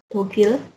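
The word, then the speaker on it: 독일: kayak gitu juga kemudian Jerman juga beda e pengucapannya bukan jermani atau gimana tapi dogil beda jauh beda ya dogil kemudian Denmark ini mirip-mirip Denmark nah ini juga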